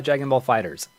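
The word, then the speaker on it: Dragon Ball FighterZ: and be like yeah it is Dragon Ball fighters that's how you correctly pronounce a game that's stupid but with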